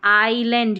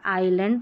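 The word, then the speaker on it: island: आ रहा है तो आइलैंड क्योंकि एस साइलेंट है आइलैंड तो आई का ही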